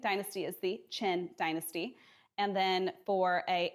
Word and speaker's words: Qin: If it's a Q, it is a Ch. So what looks like the Qin dynasty is the Qin dynasty.